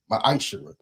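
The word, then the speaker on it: ma'aser: verse chapter 3 8-10 means 10th in Hebrew and it's pronounced misher 10% of every penny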